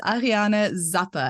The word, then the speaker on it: Ariane Zappe: Today we have a very special guest with us, Ariana Zappa. And I've probably said your name wrong now, so you'll have to say it again.